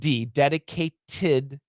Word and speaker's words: dedicated: dedicate but with the dedicated to uh so what we have here is uh uh the dedicate that t becomes a flap t and it says dedicated